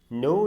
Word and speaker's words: know: के यहाँ पे साइलेंट होता है तो हम इसे सिर्फ NWO नो पढ़ेंगे। लेकिन जब लिखेंगे तो KNOW नो।